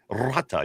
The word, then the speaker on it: rata: But that was one thing I got from her was rata. You have to be able to roll your R.